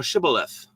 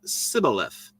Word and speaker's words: Shibboleth: And if he said, nay, then they said unto him, say now Shibboleth. And he said, Sibboleth, for he could not frame to pronounce it right.